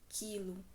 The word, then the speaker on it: quilo: palavra quilo Observe que na palavra quilo eu pronuncio só o i quilo o u não tá sendo pronunciado é o único som